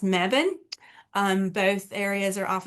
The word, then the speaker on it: Mebane: So, um you may have to go more towards the Greensboro or a space called Mebban. It looks like Mebane, but it's pronounced Mebban.